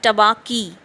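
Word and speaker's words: Tabaqui: And in this way we find the introduction of the jackal named Tabaki, uh, pronounced as Tabaki, which means the dish liquor.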